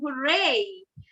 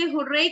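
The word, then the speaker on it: hurrah: So when my team wins, मैं हमेशा बोलती हूँ हुर्रे। लोग इसे हुर्रे कहते हैं, वैसे ये सही इसका प्रोनाउंसिएशन है हुर्रा।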